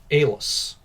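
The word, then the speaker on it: Allas: try to pronounce it a l l a s Alice Alis I'll call him Alis because Alice makes him sound like a girl which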